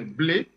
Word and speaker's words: Blé: La prononciation exacte, c'est Blé.